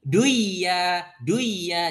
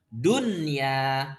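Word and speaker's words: دنيا: maka jangan diidghamkan, jangan gini, duya, jangan. Ya. Tapi membacanya dengan jelas. Jelas, idhar berarti kan? Dunya.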